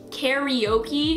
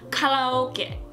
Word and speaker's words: karaoke: So for example, karaoke is how we say it in English, but it's actually pronounced karaoke. Karaoke. Ka-la-o-ke.